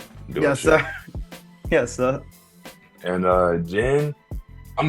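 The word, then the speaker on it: Jhin: type his name is Jen but it's spelled j-h-i-n I didn't [ __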